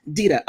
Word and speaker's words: Dita: I think her name is Dita or Dita. I think it's pronounced Dita. Dita.